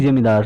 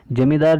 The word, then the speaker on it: ज़मींदार: And king and बिग जमींदार, और जो बड़े जमींदार थे, जमींदार जिनके पास बड़ी ज़मीन के टुकड़े थे, हिस्से थे. इसे जमींदार या ज़मींदार दोनों शब्द कह के प्रोनाउंस कर सकते हैं.